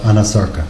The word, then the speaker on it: anasarca: examiner, did she have a condition known as anasarca? If I'm She not did. mispronouncing it. No, you're pronouncing correctly. She did have a condition called anasarca.